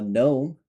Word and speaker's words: gnome: Basically, what's happening here is with words like uh gnome, you can just clearly see that you are not pronouncing the G. It's just not there.